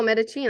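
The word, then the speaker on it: Medellín: They are currently living in, and how do you say it, Medellin? Medellin. Oh, Medellin. I totally got the double L wrong.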